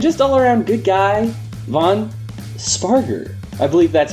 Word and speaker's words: Spargur: research team and just allaround good guy Von sparer I believe that's how it's pronounced right yes you got it right all